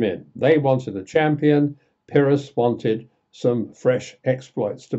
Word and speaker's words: Pyrrhus: Got to spell it again. P-Y-R-R-H-U-S, Pyrrhus.